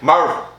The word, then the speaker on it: Maryville: Marvel. And Say it right, Marvel.